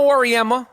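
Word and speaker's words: Auriemma: man it's it's it's messed up um Gino Orma I said his name right see I don't try to say his name wrong gin Orma the coach of yukon's women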